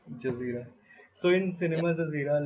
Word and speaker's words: Jazireh: Am I pronouncing it correct? Yeah. Jazireh. Jazireh.